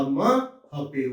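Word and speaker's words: mho: o पीछे चला जाएगा, तो ये उच्चारण होगा आधा म हपेव की मात्रा, महो।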